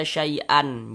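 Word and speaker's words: شيئا: Sehingga kita baca syai'a. Nah, dipanjangkan 2 harokat, syai'a. Jangan dibaca syai'an, jangan. Tapi dibaca syai'a, seperti itu.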